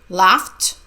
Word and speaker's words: laughed: when I kissed her the first Ed sounds like tea and the second Ed sounds like tea laughed kissed she laughed when